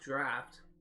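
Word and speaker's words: draught: early uh drought draft I'm assuming that means that's supposed to be pronounced draft that's I guess it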